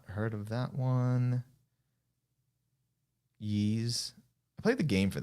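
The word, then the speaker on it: Ys: think on the ps2 i think it's pronounced yeez why us um yeah okay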